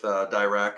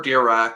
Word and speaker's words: Dirac: to form a relationship with Dirac and or Dirac. They said pronounce it any way you like.